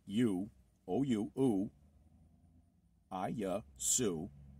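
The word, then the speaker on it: Ἰησοῦς: And it's pronounced I-Yasu.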